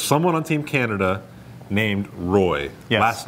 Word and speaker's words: Roy: There's someone on Team Canada named Roy, last name R-O-Y. Correct. He pronounces it Roy, and some people in Quebec are unhappy he doesn't pronounce it the French way.